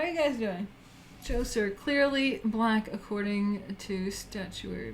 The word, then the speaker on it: Djoser: The correct pronunciation of this word is Djoser.